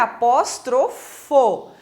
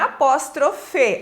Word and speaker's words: apóstrofo: e assim por diante o apóstrofo que a pronúncia correta é apóstrofo não é apóstrofe apóstrofe é uma figura de linguagem então o